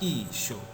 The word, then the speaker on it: Isho: Tapi kalau kita perhatikan dengan bahasa Aram Timur, baik secara aksaranya ini sama dengan aksara ekstrangelo, tapi mengalami perkembangan dalam hal pengucapan, dibaca Isyo.